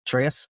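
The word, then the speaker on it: Atreus: Ateus. There you go. Yeah. Well, James knows. He plays God of War. What? How did you say it, James? Ateus.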